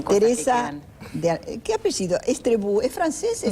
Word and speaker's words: Estrebou: Estrebou, ¿es francés? Vasco-francés, sí, Estrebou Estrebou se escribe y se pronuncia.